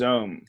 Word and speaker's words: Xome: It's called XOME, and it's pronounced Zome.